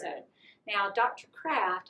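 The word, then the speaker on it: Creft: Kraft, and that's spelled C-R-E-F-T. For a long time I thought it was C-A-R-A-F-T because everybody pronounces it Kraft.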